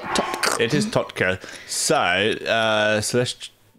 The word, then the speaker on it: TOTK: It's a very unique way to say it, but that's how you say it. TOTK.